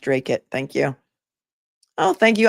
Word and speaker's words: Dracut: It's pronounced Dracut.